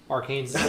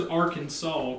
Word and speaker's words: Arkansas: money loan real quick people actually say that our Kansas I mean a non-english speaker I mean that's how it should be pronounced yeah I mean that is but we all speak English here where does Arkansas come